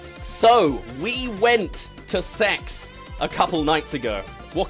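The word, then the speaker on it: CeX: CE X, but it's apparently pronounced sex.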